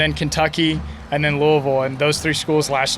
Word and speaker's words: Louisville: doesn't bother me but yeah it's Louisville you're supposed to say like Louisville yeah like that like a